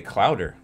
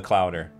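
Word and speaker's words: clowder: So a group of cats is called a clouder. Who knew? I didn't even know that was a word. True story. It's called a clouder. Rhymes with chowder.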